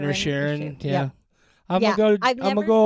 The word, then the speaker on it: Inisherin: He was in And Banshees of Banshees of Isherin. Inisherin.